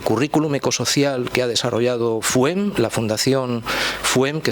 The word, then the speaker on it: FUHEM: Primero, el currículum ecosocial que ha desarrollado FUEM, la Fundación FUEM, que se escribe con H intercalada, o sea, FUHEM, ¿no?